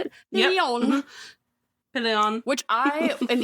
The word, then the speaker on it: Pillion: Pillion.